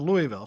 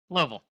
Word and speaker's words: Louisville: It's one syllable, folks.